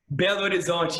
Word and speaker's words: Belo Horizonte: I'm sorry if I butchered the name wrong, but Belo Horizonte. Belo Horizonte, yes, perfect, you know.